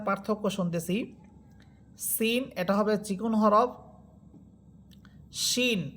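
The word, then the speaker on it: شين: এখানে আমরা সিন এবংশিন এই দুইটা হরফের উচ্চারণের পার্থক্য শুনতেছি।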